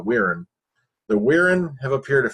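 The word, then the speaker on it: Wirrn: All right, number 2, the Wirren. That's a weird pronouncement of that name, I know, but that's the way they do pronounce it on the show, the Wirren.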